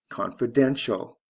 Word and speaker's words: confidential: t i a l confidence confidential first syllable to third syllable stress shift preference preferential